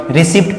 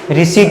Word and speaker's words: receipt: ऐसे कई सारे होते हैं, जैसे आप पढ़ते हो, इसको आप गलत पढ़ते होंगे, RECEIPT, रिसिप्ट पढ़ते होंगे, लेकिन ये रिसिप्ट नहीं है, ये रिसीट है, क्या है, रिसीट, क्या